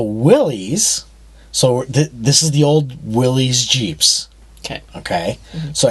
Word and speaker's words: Willys: And then we did discover that it has two different pronunciations. Yes, there are two different pronunciations. So Willys, this is the old Willys Jeeps.